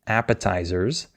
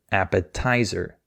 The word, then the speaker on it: appetizer: speaker, this worker, and she stressed the wrong syllable. She said appetizer. And the way she said it was very hard to understand for the native speaker because he was expecting her to say appetizer. That's the correct way to say it.